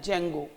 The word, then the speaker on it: Django: है जिसका नाम है जैंगो जहां पर दी साइलेंट है कुछ लोग डिजन को बोलेंगे बट यहां पर साइलेंट होता है तो बटर यांगों बोले